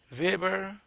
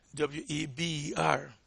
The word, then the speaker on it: Weber: now, but Max, M-A-X, W-E-B-E-R. That is not pronounced Weber. It is pronounced Weber. It's German.